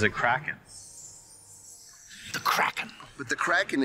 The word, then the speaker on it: Kraken: Kraken don't B it's craen anyways always heard it said cren well we always pronounce it kren no no no no no no no cin ER it's pronounced in the original Scandinavian but what happened was